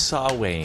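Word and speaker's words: Samhain: know is Halloween in do you spell it Sam Hayne yes that's exactly how you spell it say it's saw Wayne sne what's with that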